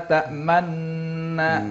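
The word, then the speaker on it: تأمنا: Misalnya bacaan-bacaan yang gharib ya, yang asing-asing itu seperti misalnya bacaan Ishmam, tulisannya la ta'manuna, tapi bacaannya la ta'manna sambil monyongkan mulut ya, atau tulisannya bismillahimajroha ya, tapi bacanya bismillahimajreha.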